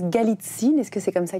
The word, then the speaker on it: Galitzine: Bonjour Sophie Galitzine. Bonjour Guyane. Je prononce Galitzine, est-ce que c'est comme ça qu'il faut le prononcer?